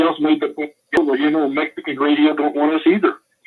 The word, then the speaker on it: Mexica: And the Spanish couldn't pronounce the X in our language, so they called it Mexico. And, Mexicanos. Right. Which, after 500 years, whatever, right? Right. But it was actually Mexica.